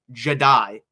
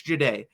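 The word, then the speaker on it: Jahdae: his on offensive lineman they mispronounced Jay Baron's name Jedi not a Jedi it's not Jedi it's jeday there are multiple other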